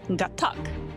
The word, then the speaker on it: Gatac: No, it's Gatac.